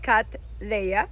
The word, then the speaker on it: Cattleya: So first of all, Cattleya, which is pronounced Cattleya, like Princess Leia, just to make it easy for everybody, is an orchid.